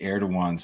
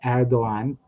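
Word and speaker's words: Erdoğan: That G is originally a letter in Arabic called Gain. So if you hear an Arab pronouncing Erdogan, they would say Erdogan. Or if you hear someone Gan, yeah. So you know, if you go to Azerbaijan, they say that letter, but in Turkish it's called a yumuşak G, a soft G. So it's kind of quiet.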